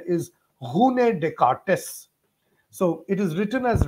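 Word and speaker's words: René Descartes: talk of this uh person in general people pronounce it as Renee decart but the original French pronunciation is Hun decartes so it is written as rainy but we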